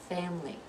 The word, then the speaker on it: family: familiar familiarity and family be careful with this one it looks like there's three syllables but we're going to I was only two family so familiar familiarity and